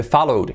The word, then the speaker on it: followed: No se dice followed, ¿ok? No se pronuncia la E. I followed you yesterday. Simplemente añadimos el sonido de.